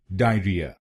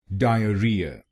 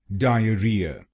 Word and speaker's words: diarrhea: this word wrongly like diarrhea. So let us understand why this pronunciation is wrong and what is its correct pronunciation. Its correct pronunciation is diarrhea diarrhea. There are four syllables in this word.